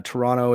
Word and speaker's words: Toronto: someone from Canada uh Toronto is only pronounced of one t not two T's and also you're not